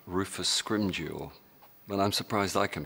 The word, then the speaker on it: Scrimgeour: There was, we have kind of eventually reached consensus on how to say his name, and we're going with Scrimmager.